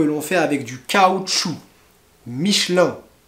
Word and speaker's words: Michelin: fait avec du caoutchouc michelin a pas micheline michelin bon ensuite on